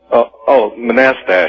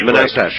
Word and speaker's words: Manastash: How do you pronounce the name of your town, Manastash? Manastash. Manastash.